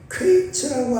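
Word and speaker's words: קץ: 그런데 이 여름 과일이라고 번역된 이 단어가 콰이츠라고 하는 단어입니다. 그런데 이 콰이츠라고 하는 단어와 또 종말 또는 마지막 때라고 하는 단어와 발음이 너무 비슷해요. 퀘이츠라고 하는 단어예요.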